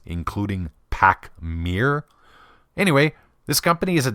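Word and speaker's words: Pachmayr: you can add one of them too it's pronounced pacm now I've heard a number of different pronunciations including Pac Meir anyway this company is a division of linman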